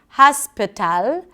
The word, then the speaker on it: hospital: So, hasp, and then if you're used to pronouncing it with an A sound, tal, hospital, what happens if you reduce it? Hospital, hospital. And you can see how it changes the rhythm of the word.